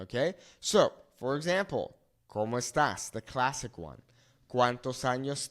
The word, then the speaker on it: estás: However, because we have this accent on the a, it's changing the pronunciation to como estás.